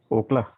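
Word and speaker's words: אָכְלָה: Actually, because of this Shiva, there are two syllable. This word is a two syllable word. Because of the Shiva, this syllable is closed. That is ok. Second word is la. Ok, la. Ok, la. So because of that, this first syllable becomes closed and unaccented syllable, because syllable becomes closed.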